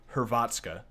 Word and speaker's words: Hrvatska: I was saying like her, I don't remember how I was pronouncing it wrong, but they pointed out it was pronounced Hrvatska or something close to that.